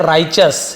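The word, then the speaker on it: righteous: busy है ना इन इसे हम पढ़ते हैं राइच अस लिख लीजिए राइच अस इसे हम क्या पढ़ेंगे राइच अस तो तो आप ऐसे लिख सकते हो राइ चस हम स लिख लेते हैं राइच राइच राइच अस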